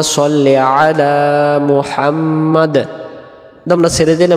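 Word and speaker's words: صلِّ: আল্লাহুম্মা সল্লি আলা।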